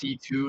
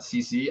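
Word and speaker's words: C.C.: Told me her name is actually pronounced C2, not CC.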